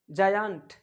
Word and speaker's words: giant: क्या हमने बोला कि जी के जस्ट बाद आई या ई आ जाए तो उस जी को हम ग के सेंस में नहीं बोल करके जी के सेंस में उच्चारित करेंगे। कैसे, क्या पढ़ेंगे? जायंट, जायंट, जायंट यानी दानव।